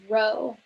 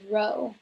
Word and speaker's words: rho: ask well it's this symbol here which we pronounce as rho if you calculated density before in a chemistry class for example then you would have seen this notation that we pronounce as rho so rho is the linear correlation coefficient for